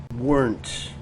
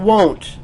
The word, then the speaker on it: weren't: Can you pronounce this word? Weren't. Not won't. Don't say won't. This is weren't.